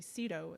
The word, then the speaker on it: Cito: to pronounce it was to emphasize the Z that was in my last name when we actually just say Cito. The Z is silent.